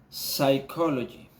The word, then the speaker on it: psychology: had the example of the silent p we have for example psychology okay another example psychiatrist